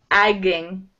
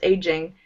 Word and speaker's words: aging: Yeah, when I see this, I think it's like agging. Yeah. That's what my brain does, right? But yeah, it's pronounced the same way, of course, aging.